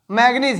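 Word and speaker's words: manganese: उसके बाद Mn, तो जो Mn है इसको हम बोलते हैं ये मैग्नीज है। मैग्नीज है, MnGANESE, MnGANESE, इसी तरह मैग्नीज का स्पेलिंग होता है।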